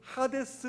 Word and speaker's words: 하데스: 자 옴 문의 보면 이 음부는 하데스 라고 읽어요 하데스 근데 하데스의 뜻이 뭐냐면